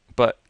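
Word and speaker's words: 不: So it's pronounced very sharply and falling. Bu.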